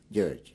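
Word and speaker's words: György: r g y with umls over the O's gge is the pronunciation and everybody calls me in Hungarian is like Georgie in what city and Country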